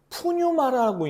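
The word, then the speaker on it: πνεῦμα: 그러면 여러분 반면에 푸뉴마라고 있는, 헬라어 푸뉴마라고 읽는 영은 어떤 의미를 가지고 있을까요?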